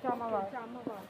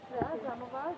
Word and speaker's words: Jamavar: How do you pronounce it? Jamavar. Jamavar.